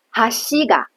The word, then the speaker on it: 橋が: 哈西嘎，而哈西嘎，因为它是尾高型，重音在单词结尾的那个